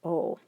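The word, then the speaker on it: を: people pronounce it as whoa it's actually pronounced as o and then we have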